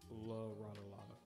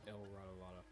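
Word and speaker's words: La Rata Alada: The penguin tells James Gordon and Batman that the actual pronunciation of the word is La Ratalada and not El Ratalada. This is because Riddler got his Spanish wrong here.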